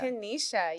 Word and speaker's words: Kennisha: Kenisha. Kenisha.